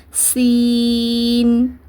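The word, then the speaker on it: سين: இத வந்து ஷீன்னு உச்சரிச்சிர கூடாது. இந்த இதே வடிவத்துக்கு மேல மூணு புள்ளி வந்தாதான் அந்த ஷீன். இங்க பாருங்க சீனு இது ஷீன் சீன் ஷீன் ரெண்டையும் போட்டு குழப்பிக்க கூடாது ரெண்டுக்கும் ஒரே உச்சரிப்பை கொடுக்கக்கூடாது.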